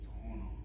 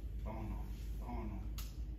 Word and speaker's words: Tohono: And they say it different, somebody is saying Tohono. Like when you see it, in English language, it's Tohono. I mean, yes, that's how you say it. But in, somebody with the cultural background or that kind of knows about it, it's Tohono. And so it's a little bit different than what everybody else is saying.